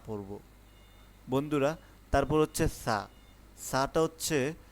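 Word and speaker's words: ث: সা হচ্ছে একটি নরম হরফ। যেটাকে আমরা বলি নরমভাবে উচ্চারণ হবে একদম জিহ্বার আগা থেকে সা জিম জিম হচ্ছে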